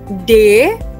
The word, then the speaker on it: D: D is pronounced just like the English word day.